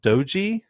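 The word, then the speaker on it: Doege: it's uh jared um doji is how you say it i thought it was dodge at first but it's an e um but has no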